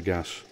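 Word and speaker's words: Gaz: For firing my steam plants, I normally would use a camping gas cylinder, and that's not a mispronunciation, it's spelled G-A-Z.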